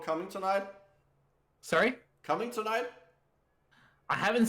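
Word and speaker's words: Cummingtonite: Okay, so there's an actual mineral called Coming Tonight, which sounds like you're coming tonight. Yes. It's an actual it's spelled differently because it's named after someone called Cummington.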